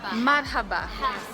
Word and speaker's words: Marhaba: powerful safe so how do you say hello in Arabic what it's Salam alikoum and muhabba Sahel Salam alekum and muhabba Marhaba gotta practice bye guys so